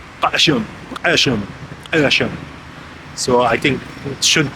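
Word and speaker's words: Qeshm: Tomorrow we will go to see Kashem. Actually, it's not pronounced Kashem, but they have this Q that's coming from Arabic. It's like here, go. So it's Kashem.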